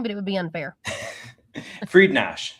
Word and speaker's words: Friednash: Friednash. So it's not that hard. yeah, but I hear all sorts of pronunciations over the years. Friednash, Friednash. It's Yes, as long as it's close, I'm not offended. Absolutely. Well, it is spelled directly Friednash. I mean, it's exactly spelled that way.